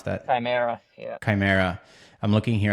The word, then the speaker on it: Chimera: How do you pronounce that? Chimera, yeah.